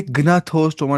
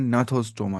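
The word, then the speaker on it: Gnathostoma: ये ग्नाथोस्टोमा नहीं पढ़ना, ये पढ़ना है नाथोस्टोमा, शायद इसको शायद जी साइलेंट पढ़ना है। शायद नहीं, हाँ, इसको जी साइलेंट ही पढ़ना होता है।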